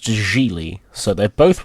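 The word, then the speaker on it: Gigli: pronounce it because I always want to say jiggly and I don't think that's how it's pronounced jiggly yeah hold up editing Josh here it's pronounced Julie so they're both wrong and that sets a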